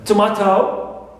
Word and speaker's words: tomato: which also the second syllable clear with second syllable for example I can mention here the two uh examples uh tomato as a now tomato C tomato I have